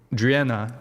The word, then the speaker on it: Driena: Now, Driena, did I say it right?